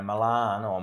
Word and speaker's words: Milano: the uh you know Milan or Milano as the locals say it's world renowned as